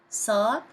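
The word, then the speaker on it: صاد: dots on the top sod pronounced as deep s because it's not technically like seen seen pronounced as s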